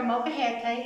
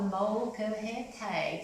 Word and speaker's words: molcajete: You got to pronounce every syllable, and it's called the molcajete. So together, real slow, molcajete, molcajete.